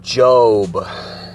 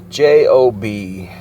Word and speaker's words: Job: Let's talk about the book of Job. J-O-B. Spelled weird, spelled like job, but pronounced Job as in J-O-B-E. Just like robe, R-O-B-E, but for some reason there's no E on the end.